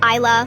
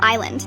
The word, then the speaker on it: Isla: Isla, like I can see the beautiful island.